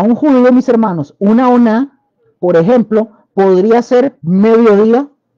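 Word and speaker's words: onah: hebreos, aparece para día, noche, ellos le llaman oná. La oná se escribe con O-N-A-H, oná.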